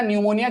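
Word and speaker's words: pneumonia: और न्यूमोनिया, bacterial न्यूमोनिया, PMT आप कर सकते हो, ये हो जाएगा पी से क्या, अच्छा न्यूमोनिया की स्पेलिंग पी से चालू होती है, न्यूमोनिया, ठीक है, PNEU, न्यूमोनिया। अब आपका आ जाएगा M से मेनिनजाइटिस, मेनिनजाइटिस, और T से हो जाएगा टीटेनस।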